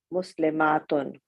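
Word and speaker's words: مسلمات: the ta is open, muslimatun. In pronunciation, the only difference between the singular and the plural is the shortness and length of a. Muslimatun, muslimatun. Excellent.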